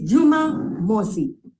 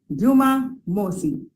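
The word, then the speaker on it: Jumamosi: day yes Friday is ijuma ijuma yes it's spelled i-j-u-m-a-a and Saturday is Juma MOSI Juma MOSI j-u-m-a -m-o-s-i Moses kind of sounds like moja which is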